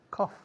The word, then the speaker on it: cough: Entonces, la tos, que se escribe couch en inglés, se pronuncia como la primera parte de café. Coffee, cough, cough, cough.